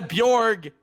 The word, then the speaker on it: Bjorn: Not a silent J, it's a Y sound. It's a Bjorg.